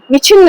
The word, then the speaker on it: विच्छिन्न: तो इसका सीधा-सीधा उच्चारण क्या हो जाएगा? विच्छिन्न विछिन्न। आप ऐसे ही बोलना पेट पे फूलना और पचकना होना चाहिए।